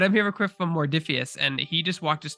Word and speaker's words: Modiphius: I keep wanting to say it Morpheus, but it's not. There's an R in there, right? It's like Oh, Modiphius.